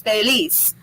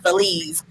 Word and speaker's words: Feliz: is felix it is felice and the z is pronounced like a s not feliz feliz um you can